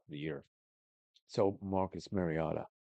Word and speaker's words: Mariota: So Marcus Mariotta Mariota I would say his name.